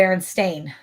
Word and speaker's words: Berenstain: It's actually the Berenstain. Berenstain Bears, like stain, like you stain something, like you drop something on.